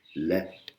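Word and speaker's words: และ: Et là, on va écouter avec une voyelle courte, le, qui veut dire et. La E, voyelle courte, on l'écoute tout de suite.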